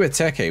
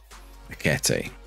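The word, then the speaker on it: Ekitike: Hugo Eteke would be good, actually, yeah. Look at Hugo Eteke. Hugo Eteke. Ekete.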